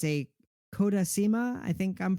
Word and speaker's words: Kodasema: It's a Kodasima. I think I'm pronouncing that correctly. What is it? Yeah, the company is called Kodasema, and it's a bit on the larger side of the tiny house.